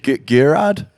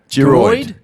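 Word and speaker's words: Gearóid: What's the first one? Gerard? Gerard. Geroid. Geroid. Hemorrhoid. Hemorrhoid. That's what we call it. Exactly. I feel bad. It's so like how it reads is not how it's said.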